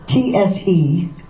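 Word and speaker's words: tsere: It's TSE-RE, and is pronounced almost like the letter E in the word net.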